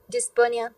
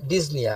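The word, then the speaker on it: dyspnea: ডিসপোনিয়া, ওকে, তো আচ্ছা ডিজনিয়া, আপনারা না এই উচ্চারণটা sorry this is ডিজনিয়া, this ডিজনিয়া আপনারা সাউথ ইন্ডিয়ান উচ্চারণ থেকে বেরোন। হ্যাঁ, this is ডিজনিয়া। Okay, P should not বি আটার্ড।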